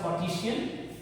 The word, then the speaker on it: Cartesian: Just I have underlined that letters Cartes, but you should, in the name you should read as René Descartes, but here it should be pronounced as Cartesian system.